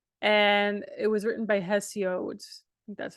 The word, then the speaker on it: Hesiod: around 700 BC and it was written by hesiod that's how you pronounce them his name um it related to